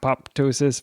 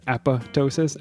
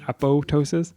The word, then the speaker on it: apoptosis: my field of study I'd like to note that the second p is silent no popping here so Justin is referring to the app pop Tois versus apotosis apotosis he he goes on